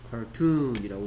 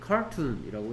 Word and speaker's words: cartoon: 뭐 cartoon에서는 얘가 이음절의 강세가 있습니다. 여기 보면 뭐 발음 기호에 보면 위에 이렇게 점 같은 거 찍힌 거 있죠? 여기에 점 있고 여기에 점 있고 이게 강세를 표시하는 겁니다. cartoon이라고 읽어야지 cartoon이라고 읽으면 안 되겠다 라는 얘기입니다.